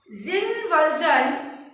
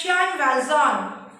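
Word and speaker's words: Jean Valjean: Zin Valzon, to be pronounced as Jan Valzon. Jan Valzon. J-E-A-N. Jan Valzon. V-A-L-J-E-A-N, that is Valzon.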